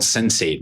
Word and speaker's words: Sensate: It's spelled sensate, but apparently it's pronounced Sensate, but it's this it looks like a little egg-shaped thing you kind of wear on a necklace.